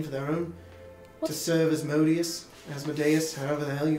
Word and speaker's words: Asmodeus: their own, to serve Asmodeus, however the hell you pronounce it. Some people incorrectly say Asmodeus. Some people say they're a bit thick in the head because Deus is... Never mind, it's Asmodeus. But they seek to claim